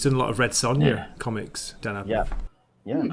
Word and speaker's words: Sonja: Sonia Comics yeah yeah I think it's pronounced Sanja just you know it's it's it's very ethnic yeah I know I've seen I've seen her the castle sorry I've seen who they've cast it's clearly Sanja another another Ginger side